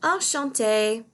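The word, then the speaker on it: enchanté: to meet you and if you are a girl and you are saying enchante remember at the end if you ever are writing this down you'd add an extra e if you're just saying it you don't need to worry about that the next slide is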